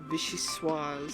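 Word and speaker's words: vichyssoise: Oh, by the way, the way to pronounce that one soup was Vishuis.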